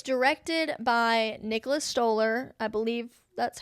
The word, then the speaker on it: Stoller: It's directed by Nicholas Stoller. I believe that's how it's pronounced.